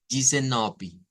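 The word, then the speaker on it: dezenove: n o v e si lo ley en español cualquiera diría Ah Es como desen ahí es donde viene el cambio y es que el patrón de sonido para el portugués brasileiro es decir du Brasil las d con las e las pronuncia como un sonido como una y y Entonces vamos a hacer yiz yiz yiseni yiseni esta es la sílaba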